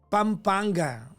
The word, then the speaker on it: Pampanga: Pampanga. Sabi ng nanay ko, hindi daw Pampanga ang bigkas diyan. Ano po? Pampanga. Sabi ko. Wala yung M.